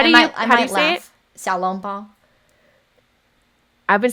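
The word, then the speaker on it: xiaolongbao: how I've been pronouncing it. Yeah. Sorry. Okay. Okay. Okay. Okay. Wait, wait. How do you laugh? Xiaolong Bao.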